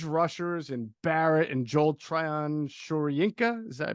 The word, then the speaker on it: Shoyinka: got quick edge rushers and Barrett and Joel Shoryinka. Is that I pronounce that correctly? Shoyinka.